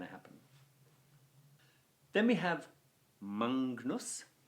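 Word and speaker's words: magnus: Then we have Mangnus. Now, remember, GN in Latin is pronounced as if it were NGN, Mangnus.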